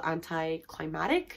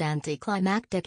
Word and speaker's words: anti-climactic: found it to be a little anti-climatic the way i pronounced anti-climactic is so word lol wtf lol sorry